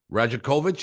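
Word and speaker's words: Rajaković: will be announced tomorrow rajakovich is that is how you pronounce his name Darko Roger kovich uh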